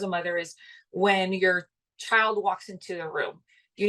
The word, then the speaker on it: chi: need to sleep um some chai uh practice U Chi practice sorry Mis pronunciation there uh very important you